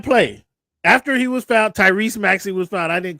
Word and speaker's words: Tyrese: Don't say his name wrong. It's not Tyrone. It's Tyrese.